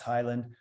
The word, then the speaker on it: Heyland: spelled uh h y l and D but pronounced Highland or you can go to my website and